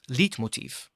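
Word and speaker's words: leitmotif: Now a light motif or as some pronounce lit motif is an idea originating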